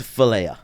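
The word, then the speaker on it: φιλία: Do you know how to pronounce it? It's Philia.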